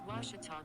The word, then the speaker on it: Ouachita: washington washington how would you pronounce it it's washita baptist university get it right it's